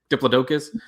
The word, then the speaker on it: Diplodocus: If you're pronouncing diploticus dipoducalus, it's just like diplodocus.